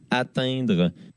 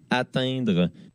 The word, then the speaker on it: atteindre: Alors que pour lui, si vous écoutez un petit peu, on sent quand même le N. Atteindre.